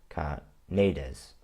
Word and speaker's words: Carneades: We can debate with Socrates, entertain doubt with Carneades. I think it's actually pronounced Carneades.